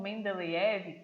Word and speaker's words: Mendeleev: Dmitri Mendeleev, ou Mendeleev, que algumas pessoas pronunciam seu sobrenome assim, foi um professor universitário da Rússia e ele estava escrevendo um livro de química.